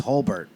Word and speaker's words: Holbert: And he goes, no, it's Holbert.